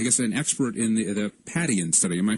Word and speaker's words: Padian: You know a ton of stuff, the AIDS, HIV cases, and I guess an expert in the Padian study. Am I pronouncing that correctly?